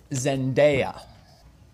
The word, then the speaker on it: Zendaya: Zendaya. Zendaya. Zendaya. Put a little hat over there. Oh, look at that. Zendaya, like opposite of night.